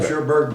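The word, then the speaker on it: Cherbourg: remember anything about uh cherberg or pronounced it well sherberg poent is on the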